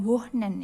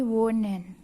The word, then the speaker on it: wohnen: Nah, walaupun di sini ada H, tapi bacanya bukan wohnen ya, tapi wohnen gitu.